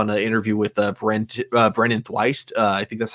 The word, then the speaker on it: Thwaites: The one thing that I found really funny that I saw in an interview with Brennan Thwaites, I think that's how his name's pronounced. Oh, Brennan Thwaites. Oh, Thwaites, yeah.